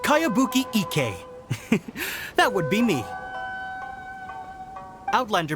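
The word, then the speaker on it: Kayabuki Ikkei: one i've never heard of it by cowabunga icky this is a really strange name who's this cowabunga it's pronounced kayabuki ek that would be me outlander brigade is a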